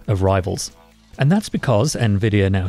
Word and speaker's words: Nvidia: There's no debate, it's Nvidia. And yet, many think this multi-trillion dollar artificial intelligence pioneer is called Nvidia.